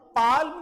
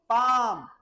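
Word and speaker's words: palm: ए एल एम बेटा हम पाल्म नहीं बोलेंगे जैसे वक में एल साइलेंट था टोक में एल साइलेंट था यहां क्या साइलेंट है यहां भी एल साइलेंट है तो इसे हम क्या बोलेंगे पाम क्या बोलेंगे बेटा इसे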